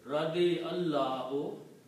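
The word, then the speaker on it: رضي الله: And you don't pronounce alif. When you combine ya with the lam, Radi Allahu.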